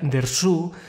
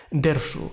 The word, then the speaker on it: Dersu: Bueno, se pronuncia Dersu, pero todos tenemos la costumbre de referirnos al título como Dersu, acentuando la primera sílaba.